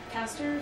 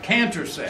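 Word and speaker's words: Cantor: There was the caster fractal, is that how you say it? The one? The caster, the one where you took out a third. Oh yeah, the Or canter set.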